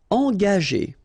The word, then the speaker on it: engager: Okay, so remember that G is a tricky letter because if you combine it with A, like it's the case here, you will pronounce it ga. Okay, but if you combine it with E, like it's the case here, well, R here, the sound E, it will go like G.